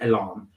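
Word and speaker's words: EL&N: so e l and and N but it's pronounced alarm and uh it's very it's one of these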